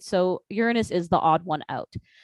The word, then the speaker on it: Uranus: mission to the planet's Uranus yes it is pronounced Uranus what is going on with Uranus that's my